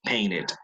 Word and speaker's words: painted: Pero si el verbo termina en T, como aquí, sí, painted, all right?